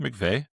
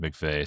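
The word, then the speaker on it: McVie: I don't also I always Is is it not pronounced McVey? Well, it could be. I I've always heard it. I feel like I think it's spelled like VIE, but I've always heard it pronounced McVey. So I don't know if I've heard it.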